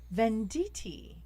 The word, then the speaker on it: Venditti: What about Kelly Venditti? Is that how you pronounce her name? Yes, it is.